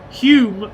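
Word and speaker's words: Hulme: Hugh, not home. Hume, the L is silent.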